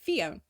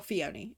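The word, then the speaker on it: Phione: It makes Fion. Or Fione, depending on how you want to pronounce it.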